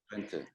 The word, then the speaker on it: Twente: If I pronounce it incorrectly, please let me know. Twente, correct.